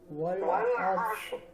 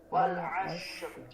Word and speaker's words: العصر: Wal asr. Nah insyaallah itu. Namun catatan lagi ya, jangan sampai kita tertukar dengan huruf shin yang besar. Wal ashr. Tapi as seperti itu.